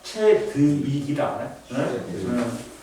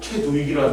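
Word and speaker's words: Chadwick: 위원회하고 안 좋으니까 그리고 중성자를 발견한 사람은 최두익이 아니라 채드윅이다 우리나라 화학 선생님이 나한테 그러는 거야 우리 발음이 안 좋아서 발견한 사람이 최저 위기야 그러니까 우리는 발음이 어 우리나라에서는 벌게 됐다고 최두익이라는 사람이 어우 너무 이상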